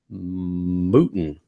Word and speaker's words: Mouton: And you just told me how to pronounce it, which is Mouton.